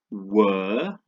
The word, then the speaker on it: were: Where, as in the question, is like air, and were, without the H, is a different sound completely, isn't it?